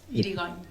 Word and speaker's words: Irigoin: Así que gracias por acompañarnos, Irigoyen, o Irigoyen, tal vez lo pronunciamos mal. ¿Cómo es? Irigoyen. Cortito. Acá hay dos Irigoyen o Irigoyen.